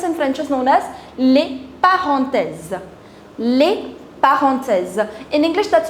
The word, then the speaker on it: les parenthèses: The next one are the parentheses or the normal brackets, les parenthèses.